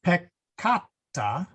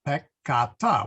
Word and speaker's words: peccata: If it's a double letter, then the split is between the two letters. So peccata, sins, is pronounced peccata.